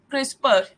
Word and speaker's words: CRISPR: Like there is no alphabet in the CRISPR, that is E, in the last second E. We pronounced as CRISPR. There is a phonetics of E, but we don't write E in the when we are writing its name.